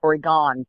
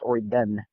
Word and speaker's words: Oregon: me think we're talking I live in Prineville Oregon or again we say it again it's not we're gone people it is actually pronounced or again I told the that my us ran there